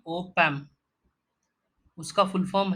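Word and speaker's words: op-amp: अगला पॉइंट है transistors, ICs that is integrated circuits, operational amplifiers उसका शॉर्ट फॉर्म है ओपैम। हमें ऐसा ही प्रोनाउंस करना है इसे ओपैम।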